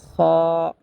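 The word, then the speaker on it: خ: যেমন জিম, খ, খ। খ উচ্চারণ করতে হবে হলকের শেষ হইতে।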